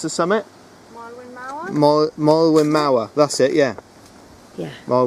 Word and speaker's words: Moelwyn Mawr: there isn't there up until how do you pronounce the summit more Malin Mauer that's it yeah yeah well we're Maori yeah